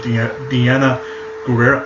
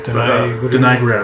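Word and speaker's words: Danai Gurira: The characters of Diana Gurira, I butchered her name. Denai Gurira, there we go.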